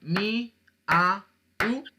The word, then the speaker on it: miau: La palabra miau tiene una sílaba, porque si yo cojo la palabra mi, a, u, no, es miau.